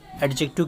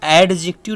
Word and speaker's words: adjective: जिसका नाम अजय एक्टिव है पहले तो आप एडजेक्टिव के बारे में जान लीजिए मैं अर्जेंट में बेटा डी साइलेंट होता है इसलिए इसको एडिक्टिव नहीं पड़ता बल्कि अजित यूज पड़ते हैं ठीक